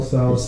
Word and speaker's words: Tso: So, The S is silent. Tau.